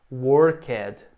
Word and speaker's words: worked: você veja a pronúncia na verdade não é worked tem esse e aqui mas o ele não é pronunciado na maioria dos casos ele é mudo então que o passado